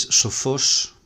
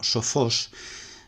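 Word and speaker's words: σοφός: Y podemos ver que el acento del masculino sofos, que es oxítono, pues se conserva en el femenino y en el neutro, igual.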